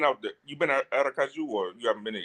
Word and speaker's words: Aracaju: So, Aracaju, man, I can finally say it right after the 50 million time. I had to get that J right. You know what I mean? The Kaju.